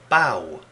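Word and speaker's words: bough: It's not what you might think. It's pronounced bow. The GH sound in this word is pronounced wa, like the W in wash.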